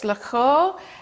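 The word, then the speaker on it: Loughor: Now, I don't speak Welsh, so I'm sorry if I butcher this, but it's Lughor. It's spelled L-O-U-G-H-O-R, and that was a little village that he lived in.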